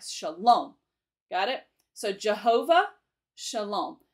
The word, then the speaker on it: Shalom: Now you say Shalom. L-O-M-E, the loam pronunciation, is the all caps part. That means it's with more force, right? Shalom.